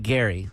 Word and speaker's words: Gerry: His name is Jerry, but pronounced like Gary.